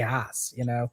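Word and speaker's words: Haus: I don't say house. I say Haas. Mhm. That's my East Coast um, that's my East Coast speak.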